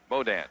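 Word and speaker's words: Beaudean: Boudin. I would think so. Okay, I'll give it a shot. B-E-A-U-D-E-A-N. Boudin.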